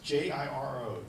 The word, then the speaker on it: Jiro: And there's a movie out there called, I don't know if I'm pronouncing his name right, but it's J-I-R-O, Jiro, the Dreams of Sushi.